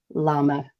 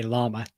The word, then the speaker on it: llama: we would mention is how to say the word llama, which is not llama. No, it's a good point. So in Spanish, a llama is spelt with double L at the start, so it's a llama.